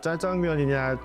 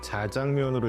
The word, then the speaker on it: 짜장면: 한때 그래서 짜장면이냐 자장면으로 읽어야 되느냐 말들이 많았는데요. 사실은 중국어에는 이렇게 쌍지읒하고 그냥 지읒하고 구별이 안 돼요. 그러니까 짜라고 발음하든 짜라고 발음하든 크게 상관이 없어요.